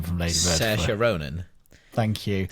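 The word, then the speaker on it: Saoirse Ronan: Sasha Ronan. Thank you. Sasha Ronan.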